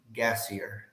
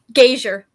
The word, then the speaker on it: Gassier: Gassier. Did I say that correctly? I'll have you correct me in a second. How do you say your last name? Gazier. Gazier, I apologize.